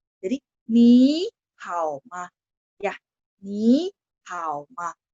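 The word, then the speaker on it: 你好: Di conversation pertama, ni hao. Jawabannya juga ni hao. Jadi ni-nya nada 2 bacanya, tapi tulisannya tetap nada 3 ya.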